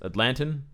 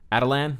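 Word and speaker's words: Attilan: he's the king of Atlantis Atlantan adilyn there we go that's how you pronounce it he's the king of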